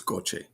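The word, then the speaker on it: gocce: speak Spanish it's gota but in Italian it's goche okay g-o-c-c-e you put a vowel after C in Italian it's ch not okay you put a CH it's like okay all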